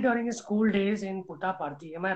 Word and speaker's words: Puttaparthi: Okay, so he's acted during his school days in Puttaparthi. Am I right? Did I pronounce that right? Yeah, it is Puttaparthi. Puttaparthi.